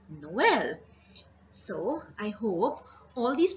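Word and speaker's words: Noël: You can see in this word we have two vowels and both of them are pronounced separately. So it is Noel.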